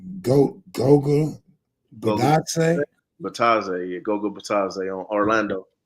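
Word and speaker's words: Bitadze: I don't know how to pronounce his name. Goga Batadze? Batadze, yeah, Goga Batadze on Orlando.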